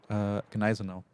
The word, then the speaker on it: Gneisenau: somebody says the G is silent in Gneisenau. I'll ask the German. Gneisenau. It's not silent. There are, unless it's like, we're just using the word from another language. You pretty much always pronounce all letters in German, I think.